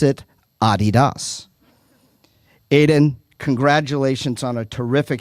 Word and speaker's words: Adidas: It is because of you that I will, from now on, pronounce the popular soccer shoe Adidas and not Adidas.